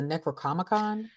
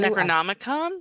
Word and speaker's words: Necronomicon: I believe the book that they kind of referenced to was the Necrocomicon too. Necronomicon.